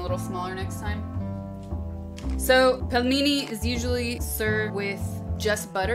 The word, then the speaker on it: пельмени: You guys keep saying, pronounce it right. Pelmeni. Like peel. Pelmeni. There you go. I said it right. It's pronounced pelmeni.